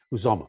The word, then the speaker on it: Uzomah: I always get that name wrong. Uzomah.